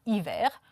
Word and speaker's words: hiver: Voilà, c'est l'exemple l'hiver, hiver, H muet. Et on utilise aussi cet. Cet hiver.